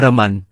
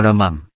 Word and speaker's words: วรมัน: บรรทัดต่อมา คือคำว่า "โศ วรมัมเทวะ" ผมพูดอยู่เสมอว่า ผมจะไม่ออกเสียงว่า "วรมัน" เพราะถือว่าไม่ตรงกับจารึก ส่วนใครจะออกเสียงว่า วรมัน ก็ตามอัธยาศัย การออกเสียงแบบนี้ในเขมรก็พูดกันว่า ทำไมไม่ออกเสียงว่า วรมัม ก็มีปัญหาว่าต้องเข้ากรรมการบัญญัติศัพท์ จะยุ่งยากเหมือนเราจะเปลี่ยนชื่อประเทศจาก สยาม เป็น ไทย สนธิสัญญาที่มีคำว่า "สยาม" ต้องเปลี่ยนเป็น